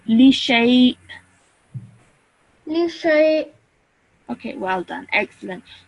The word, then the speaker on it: لشيء: Hamza is pronounced like if it is an alif. So li shay.